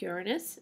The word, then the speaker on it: Uranus: sure you are saying it correctly it is Uranus um and it spins on its side that's